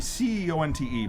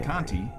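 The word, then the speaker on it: Conte: is your last name that would be c o n te but like you could pronounce it kti which some do like this jerk and uh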